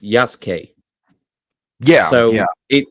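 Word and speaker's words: Yasuke: Well, that's that's the thing though is that the U is not silent. It's just crushed.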